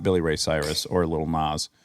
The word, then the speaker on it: Lil Nas: Now we've transitioned into Will Smith, not Billy Ray Cyrus or Lil Nas. Little Nas. Did I say it wrong? Lil Nas? Yeah.